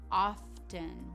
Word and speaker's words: often: The next word is often. Often. I know this word seems pretty basic, but that OFT can be difficult to bring together.